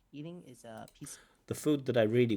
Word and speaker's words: pizza: It has a t, s, pizza with a t, s, pizza.